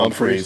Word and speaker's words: Humphrey: They had Jalen Braxton in, corner from Arkansas, Julian Humphrey, corner from Georgia. You're just going to insist on not pronouncing that H, aren't you?